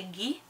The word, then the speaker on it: Guy: I know it is spelt like Guy in English, however in French this would say Guy.